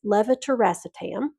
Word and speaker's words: levetiracetam: Lamotrigine or Lamictal, levetiracetam or Keppra. That is one of our most commonly mispronounced medication, so you'll hear a lot of people just say generic Keppra, but it's levetiracetam.